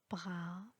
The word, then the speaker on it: bras: m l'iphone 4 avec la lettre s dans la fête du goût est toujours muette on prononce pas le s exemple avis bras corps bouna à telle